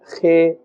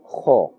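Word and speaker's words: خ: So like I was saying, this letter Kha must be pronounced with a fuller sound and not Khe or Kha. This is incorrect, but rather Kha.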